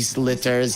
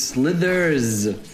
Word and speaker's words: slithers: a snake and he slitters he doesn't really have legs obviously is he going to get ran down wait wait did you just say he slitters yes it's slithers sther yeah Slither you know